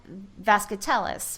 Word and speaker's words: Vazquetelles: this gentleman's last name but we have vasc Tellis with us did I pronounce that correctly that is perfect you couldn't